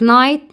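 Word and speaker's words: knight: Like night, night, K is silent.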